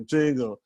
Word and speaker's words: Django: And he's like, Django. Spell it for me. And he spells it. It's like and he's like, the D is silent.